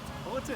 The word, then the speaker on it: Haughton: Haughton, yeah, you did it right, yeah. I finally pronounced someone's name right.